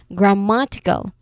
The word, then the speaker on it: grammatical: has four syllables we we apply the rule stress on third from the end so we have cal as the first syllable t as the second syllable and ma as the third syllable. So stress on ma grammatical again grammatical.